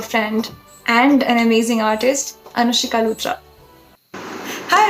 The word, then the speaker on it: Anushika: So without further ado, let's just call my dear friend and an amazing artist, Anushika Luthra. Hi Anushka, how are you doing? you spelled my name wrong. Yeah, it's Anushika.